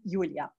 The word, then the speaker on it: Julia: But in German, it's Julia.